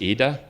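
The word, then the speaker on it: Íde: Her name is Ida. It's an Irish name with an accent on the I.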